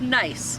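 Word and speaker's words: gneiss: of like kinase but it's actually pronounced nice which is fun because nice it's nice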